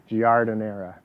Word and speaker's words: giardiniera: the way whatever tomato it's spelt with a g jar giardiniera um just like pickled